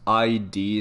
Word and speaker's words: id Software: Also, to those people out there who mistakenly pronounce the name as ID Software, do you people not listen to how they say their name? It's id.